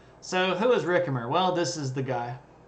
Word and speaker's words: Ricimer: And I know that looks like Ricimer, but the Romans don't do the soft C thing. That makes a K sound, so Ricimer.